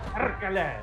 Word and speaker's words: perkele: You should use the hard R. Perkele. Perkele. Perkele.